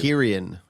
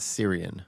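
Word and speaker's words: Cillian: that in an interview it's krian it's not Syrian it is so I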